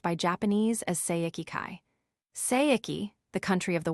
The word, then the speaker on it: Seiki-kai: The Chinese title is pronounced by Japanese as Seiki-kai.